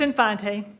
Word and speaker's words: Infante: times incorrectly i apologize it's infante infante thank you good evening